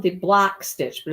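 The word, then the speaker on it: bloque: So mine is called the block stitch, but it's not B-L-O-C-K. It's B-L-O-Q-U-E. It's like the bloke stitch. That's what I thought when I read your text. I thought you were saying it was bloke, and I had to look it up, and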